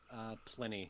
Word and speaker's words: Pliny: Pliny the Elder made them up.